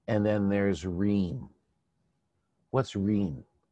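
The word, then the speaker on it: rheme: What's ream? It's spelled like theme, but with an R.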